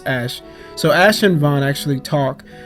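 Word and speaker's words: Ashe: I always gosh yes I used to say Austria Austria but it's ash so Ashland Vaughn actually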